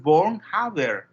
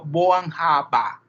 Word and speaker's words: Born-Haber: Entonces, en el alemán, cuando ustedes ven la terminación R, esa R se pronuncia como una A. Entonces, en realidad no es Born-Haber, sino Born-Haber.